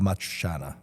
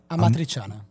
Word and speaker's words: Amatriciana: I always ruin it when I try to pronounce it, but I feel like my favorite sauce is alla matriciana. Yeah, that's an amazing sauce. How do you say this? Alla Amatriciana. Amatriciana.